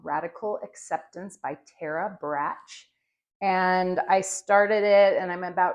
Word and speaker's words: Brach: I'm reading a book called Radical Acceptance by Tara Brach, I think is how it's pronounced, Brach.